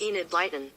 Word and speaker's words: Enid Blyton: how do you pronounce and it lightens that's pronounced Enid Blyton so I'm close I thought Google was the